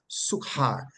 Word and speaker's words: Sychar: text is Sychar, and we pronounce it as Sychar, but the Greek word transliterated comes across same Sychar, but it is really pronounced Suhar, Suhar, Suhar, but there's a emphasis on the H.